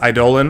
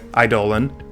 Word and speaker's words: Eidolon: to j-man he plays eidolon of blossoms and yes it's idol and i looked it up on google and it told me that that's how you pronounce it and with that